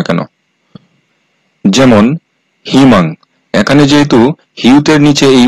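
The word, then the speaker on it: 희망: তিনটা বর্ণের নিচে বসলে উই সমান ই উচ্চারিত হবে সেটা শব্দের শুরুতে হোক বা প্রথম বর্ণের পরে হোক বা শেষে হোক যেখানেই বসুক না কেন যেমন হিমাং এখানে যেহেতু হিউদের নিচে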